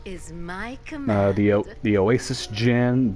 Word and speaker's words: Djinn: The Oasis Djinn, don't be thrown off by the D. The D is silent.